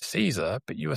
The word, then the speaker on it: Cesare: And also your name um cuz it it's Caesar but you were saying in the green room that it's Italian root so it was probably historically chereet. Exactly. Chze is the pronunciation Italian.